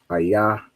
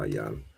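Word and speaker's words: איה: Ayah is where. All right, so go back here. We have ayah, not ayan.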